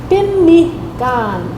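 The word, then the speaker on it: pimihkân: So here's the syllabics for pemmican, but it's actually pimikan, pimikan, pimikan.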